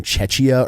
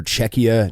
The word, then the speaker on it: Czechia: the term Czechia or Czechia nearly as often as I do saying just Czech Republic, but without a doubt, when I have said Czechia, I've pronounced it with the ch instead of the k, so I won't be doing that anymore.